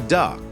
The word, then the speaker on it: DUKW: And of course, number 49, the DUKW pronounced the duck.